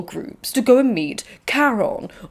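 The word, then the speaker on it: Charon: to go and meet Caron or Caron or Haron it really depends on how you say it I say Karen but I think the Greeks would have said Haron it would have been a silent k sound like night but I'm going to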